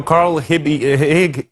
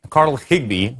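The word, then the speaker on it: Carl Higbie: And you know, Carl Hibby Higg, Carl Higgby, let me just pronounce this correctly, was not uh the only,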